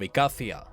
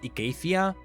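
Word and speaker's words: Icathia: because atrox is being called the blade of ecaffia the blade of Acadia has told we see no matter it will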